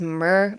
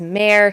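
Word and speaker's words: mer: like a myr man I always thought it was myr but the audiobook pronounces that as May so we're going to go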